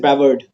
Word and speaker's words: Brevard: Is it Breard or is it Brevard? Brevard. Thank you.